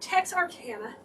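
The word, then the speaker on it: Texarkana: You guys are from sulfur Texas Arcana. I know how to say it. Tex Arcana.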